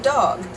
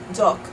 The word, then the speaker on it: dog: also in the word dog dog in English ends with a G sound which is a voice sound the unvoiced partner of